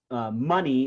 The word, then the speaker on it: money: So on these words, money is a 2-syllable word, money, and the stress is on the first syllable.